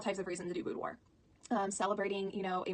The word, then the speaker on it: boudoir: question I get is how do you pronounce it spelled to be oh you do IR and it is this pronounced boudoir boudoir so I can question